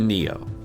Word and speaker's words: NEO: TSX, TSX Venture or the NEO (pronounced like Neo from the Matrix).